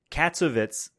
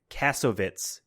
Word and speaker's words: Kassovitz: 20th century fox was like no in fact katsuovitz kassovitz it's it's spelled k-a-s-s-o-v-i-t-z kassovitz had such a hard time